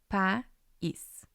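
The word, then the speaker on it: país: strong vowel and then we have the letter I and it's a weak vowel but it has the accent so that's going to turn it into a strong vowel and it's going to create its own syllable p is we will look at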